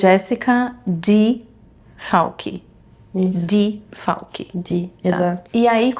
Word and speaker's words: Jéssica: Jessica Falchi. We’re saying it wrong now. People don’t even know my name anymore. They don’t say it right. It’s Jéssica.